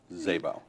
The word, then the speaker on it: Szabo: your name is Frank Zabo Zabo you know every time I look at it I think okay how do I spell that yeah ignore the S right so Frank um you're